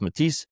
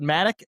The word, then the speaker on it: Matic: You pronounced the band name right. My name is Mati, though.